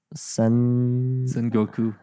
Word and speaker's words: Sengoku: Sengoku. Yes, you'll pronounce these words better than I Okay, will.